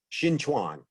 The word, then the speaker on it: Shen Chuan: own discipline too, and it's pronounced Shen. Right. Shen Chuan.